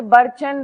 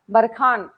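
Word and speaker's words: barchan: तो बरखान यह बरचन बारचन नहीं बोलना है इसको। This is pronounced as बरखान। ठीक है?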